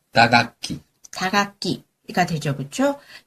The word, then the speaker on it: 打楽器: 타악기는 어떻게 발음하죠? 打楽器。